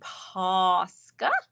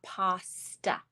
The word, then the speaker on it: Posca: this morning too uh Sarah says pasta pan is that how you spell it you got it well no no no it's not an a it's a o and I am saying posca not pasta all right this is